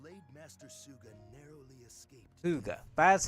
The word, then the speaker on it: Suga: Suga, that's how you pronounce it.